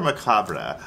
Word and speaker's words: Macabre: Is it Macabre or Macabre? I never know how to pronounce Macabre. I guess it's Macabre. Macabre, if you're feeling fancy.